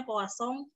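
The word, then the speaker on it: Poisson: perubahan-perubahan cecak dari sebaran puas song Nih kalau ibu Poison itu bacanya posong ternak dari itu ilmuan dari remotenya pakai ini ya terus pesan Perancis ya Kosong Yuki dan misal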